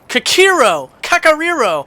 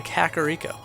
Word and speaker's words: Kakariko: I love pronouncing things from Zelda because I know that there's probably like 30 people that are like, no, it's Kakariro, or something silly, you know? So, hey, guess what? I say Kakariko.